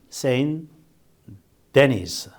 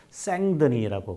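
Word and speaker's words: Saint-Denis: 그 다음에 아울렐리아누스 시기에 세인 데니스. 근데 이제 이 세인 데니스라고 되어 있는데 이것이 이제 프랑스 사람이군요, 이 사람이. 그래서 발음을 뭐라고 하느냐면 생드니라고 그래.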